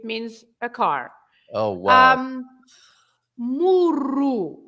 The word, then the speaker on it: murro: Murro, as it is on the screen now, is a punch. Yes. And if you say muro, is a small wall in your garden, right? Muro. Wow. Yes. So that's a difference in meaning as well, if you roll or if you don't roll the R, right?